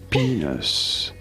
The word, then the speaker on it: penis: Penis. You do want to stress on the first syllable on the P syllable.